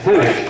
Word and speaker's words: Hannosh: Hannosh. Rhymes with Spanish, not Hanish rhyming with Danish.